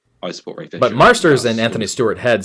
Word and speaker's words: Marsters: Yeah, and Anthony Stewart-Head and James Masters are both Marsters. Yeah, Masters. And previously Jason Momoa. Yeah, he came out and said shit went on. I support Ray Fisher. But Marsters and Anthony Stewart-Head said that they don't.